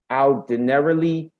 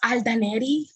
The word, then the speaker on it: Aldenerly: Aldenerly. Yes, I see Aldenerly. Did I say it right? Let me unmute Aldenerly. It's Aldaneri. It's the same thing.